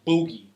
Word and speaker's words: Boogie: So it's pronounced Boogie.